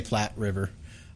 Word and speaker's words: Platte River: death ship of the i think it's pronounced platt river it's p-l-a-t-t-e so i'm gonna i'm gonna say platte river it's in wyoming so